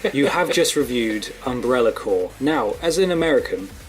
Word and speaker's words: Corps: you say that name is it corpse or core well it's core core I see there yeah corpse is a uh that's the it's the Ron pronunciation as far as I know go maybe I'm saying